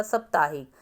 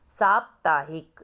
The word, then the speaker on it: साप्ताहिक: तो जब आप साप बोलोगे तो साकुआ की मात्रा और अधप आएगा, ताहिक, ताहिक, ताकुआ की मात्रा की आवाज़ आ रही है, हिक, हक, हा में छोटी की साउंड आ रही है, तो का।